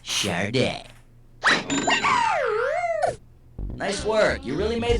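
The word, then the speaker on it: Sade: How the heck do you pronounce that? Chararda, Sadi, Sad, or Sod? I think it's Chararda. It's pronounced Chararda.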